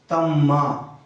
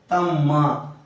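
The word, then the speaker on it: ತಮ್ಮ: चलिए, छोटे भाई को तम्मा। छोटे भाई को तम नहीं बोलेंगे, इसको तम भी बोल सकते हो आप लोग। तम नहीं बोलेंगे, तम्मा पूरा स्पष्ट उच्चारण करेंगे।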